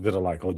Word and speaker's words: vitiligo: Uh, for people that don't know, it's pronounced vitiligo.